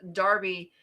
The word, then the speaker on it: Derby: Okay, I say derby because that's how it's spelled, but I am told that uh the English called Derby. And I get that. Is it an accent thing or is it is it actually Derby?